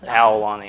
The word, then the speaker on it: Aulani: But it's not Aulani. It doesn't matter. It's Owl. Aulani. Aulani.